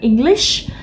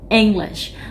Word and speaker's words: English: Ví dụ mình đọc cái từ như là English, mình không nói là English mà mình đọc cái e nó to hơn, đúng không? English.